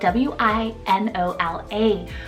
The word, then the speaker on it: Winola: Then my second one here, super cute, and I know a lot of you guys will love it, is Winola, spelled W-I-N-O-L-A, Winola.